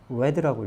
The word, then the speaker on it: read: read는 read 똑같이 모양이 똑같은데 이거는 red라고 읽죠. red 빨간색 할 때도 red.